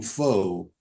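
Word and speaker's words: Phở: There are places, the restaurants, the Vietnamese restaurants, where you'll see the name Pho, P-H-O, but the Vietnamese call it Pho.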